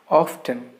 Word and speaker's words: often: pronouncing this word as often it's not often even though the spelling is often the letter t is silent in this particular word so the correct pronunciation of this word is often often we often go